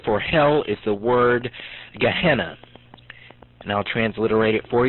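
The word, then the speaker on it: geenna: e n n a and when you have two e's together in the greek it just pronounces an eh gehenna now gehenna gehenna originally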